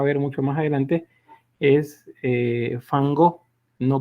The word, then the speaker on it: Van Gogh: Es Van Gogh. Esa es la manera correcta de pronunciarlo. Entonces, estos personajes, dígame. Perdón que lo interrumpa, no, pero solo quería que se me podía recordar el por qué es fan y no van.